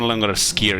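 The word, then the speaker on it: skyr: it you're missing out foreign is pronounced skier it's really good it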